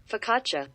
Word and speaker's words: focaccia: Oh, in case you're curious. Focaccia. Yeah, that probably would have been my guess. Oh well, Focaccias are delicious. You want people to pronounce it correctly, put an H on there, okay?